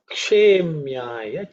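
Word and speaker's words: क्षेम्याय: Namo yamyaya cha kshemyaya cha. Namo yamyaya cha kshemyaya cha. Namo yamyaya cha kshemyaya cha. In terms of pronunciation, yamyaya is pretty simple. Kshe. It's uk and sh, which is cerebral sh.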